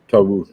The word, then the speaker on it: Tarus: Tarus. That's how you pronounce his name, right? Tarus. Put anymore. Tarus, yeah.